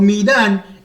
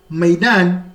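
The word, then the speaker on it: ميدان: so midan midan midan I mostly pronounce it midan midan maidan which is a field is for the military says the military marged to their field so here it can be the assembly ground maidan my pronunciation before midan the the sometimes the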